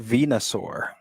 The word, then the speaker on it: Venusaur: It's pronounced Venusaur.